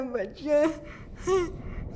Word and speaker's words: boccia: C'est quoi ça, boccia? Comment qu'on le prononce déjà?